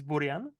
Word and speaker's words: Burian: I think like it's it's Czech pronunciation is Boran but obviously because it's like we pronounce letters differently than English like you know speakers so but like it's